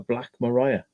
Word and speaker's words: Black Maria: call them black Marias but it could be black Maria Maria it spelled like but but we in Wales it was called a Mariah a black Mariah yeah looks like Steve